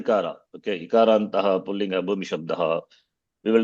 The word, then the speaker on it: शब्द: But what I want to say is, you said Hari Sabda, not Sabda, it is Shabda.